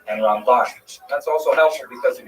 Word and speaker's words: Ramban: Rambam and Ramban is pronounced with the emphasis on the second syllable. Rambam and Ramban.